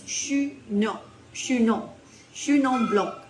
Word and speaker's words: Chenin Blanc: So Chenin Blanc, or if you want to do the proper French pronunciation, it's Chenin Blanc, which I had to be corrected.